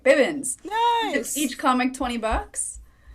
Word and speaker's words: Bibbins: My last name is pronounced Bib, like Baby Bibbins. Yeah, I said it right. Bibbins.